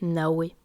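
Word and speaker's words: נָוֶה: Et le 61, ici, c'est Navé. Demeure paisible, habitation bénie, lieu restauré après la désolation. D'ailleurs, si on prend l'ancienne prononciation, où le vav n'est pas vav mais waouh, on voit que cela fait Nahweh, qui a une connotation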